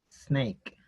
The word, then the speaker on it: snake: Y eso se debe a que inconscientemente en nuestro lenguaje, en nuestro vocabulario, nosotros no podemos leer una consonante si es que no tiene una vocal al inicio.